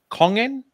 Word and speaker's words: Kongen: up we move to kongen yeah I pronounce that correctly yes that's correct kongan kongen is basically